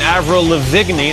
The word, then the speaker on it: Avril Lavigne: ask Alura that was the young Canadian ave rolla vigny that's the proper way to pronounce her girlfriend the fifty five percent